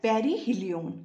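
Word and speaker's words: perihelion: हैं देखो the closest point प इज कॉल्ड पेरी हिलिन क्या कहते हैं इसे पेरी हिलिन स्पेलिंग है पी ई आर आई एच ई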